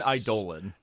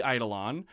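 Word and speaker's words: Eidolon: You mean Idolan. It's definitely Idolon. Uh, everyone who's ever read a Warhammer book is going to pronounce Idolon, but you. I know it's I know it's a Greek word.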